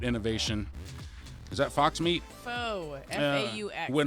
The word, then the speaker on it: faux: Faux.